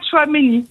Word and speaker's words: Tchouaméni: Eh bien donc vous avez les deux premières syllabes. C'est celui qui va être Aurélien Tchouaméni.